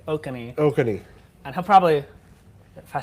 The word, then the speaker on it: Oconee: county he's in coffee he just said okaney is how you say i was calling oconee i actually have never had to say that okay so next time there's a storm that way i'll be able to say okani and he'll probably if